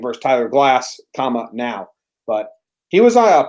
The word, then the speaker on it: Glasnow: It's pronounced Glass now?